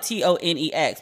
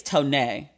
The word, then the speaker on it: Tonex: career tony it's pretty it's spelled t-o-n-e-x but i know it's not tone x well i think it's tonay i did not know